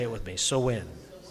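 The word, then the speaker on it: Samhain: because people look at that and they say Sam Hayne because that's what it looks like. But the proper pronunciation is so. Please say it with me. So when So when now that closed out the harvest, actually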